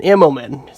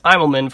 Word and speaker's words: Immelmann: yeah yeah ammo man Immelman sounds strange on my tongue I mean I pronounced it as Idleman for the last seven years but it's a momen Immelman turn so okay kudos to me